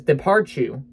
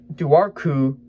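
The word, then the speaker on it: dobhar-chú: says three stars and the pronunciation in this actually says depart you which daru depart you my brain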